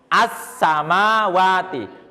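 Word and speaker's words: السماوات: Ya, al-nya suara lamnya hilang. Kalau penulisannya masih ada ini ya kan? Masih ada kan alif lam ya. Tapi lamnya enggak dibaca seperti hilang. Kamu bacanya apa? Ini ini assamawati. Assama kayak enggak ada lam kan ya.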